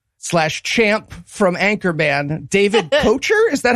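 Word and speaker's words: Koechner: that Todd Packer / Champ from Anchorman, David Kochner, is that how that name's pronounced? Ketchner.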